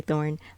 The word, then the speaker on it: Thorin: I call you um it's Thorin you can call me Thorne like the letter Thorn and I've also had